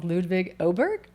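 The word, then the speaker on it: Ludvig Åberg: sorry ludig sorry ludig if I'm saying your name wrong ludig oberg that's it there we go so there's my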